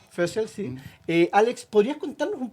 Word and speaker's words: Foessel: nuestros estudios Alex fel fel es tu apellido lo pronuncié bien Sí sí sí sel fel Sí Alex podrías contarnos